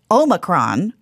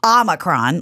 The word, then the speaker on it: Omicron: I thought it was pronounced Omicron. Apparently Omicron. It's Omicron. Like, is the Greek letter Omicron or Omicron?